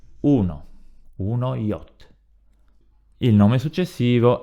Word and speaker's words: yacht: Continuiamo, troviamo la parola yacht, che si pronuncia come in inglese.